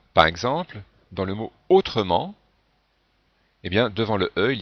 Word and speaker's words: autrement: chocs avant le par exemple dans le mot autrement et bien devant le il ya deux consonnes et ici si je ne prononcez pas le e on aurait trois consonnes